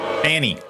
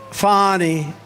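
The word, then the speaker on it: Fani: right has anybody fonnie Fanny it's pronounced fonnie F ni that's Fanny that's right but she likes it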